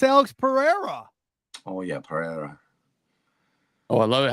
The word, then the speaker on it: Pereira: Oh, yeah, Pereira.